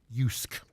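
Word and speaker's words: JYSK: Danish home retailer it's spelled j-y-s-k but it's pronounced yusuke and uh John Breslin is going to be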